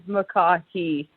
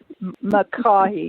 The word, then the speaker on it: McCaughey: it's quite the handle my last name is makahi makahi because i was looking at it going i think the second c is silent but i'm not sure